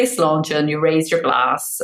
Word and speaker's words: sláinte: remember is our equivalent of cheers, which is sláinte, which is, means your good health, which it does in lots of countries. I suppose it's like salute. So yeah, if you say sláinte and you raise your glass or your cup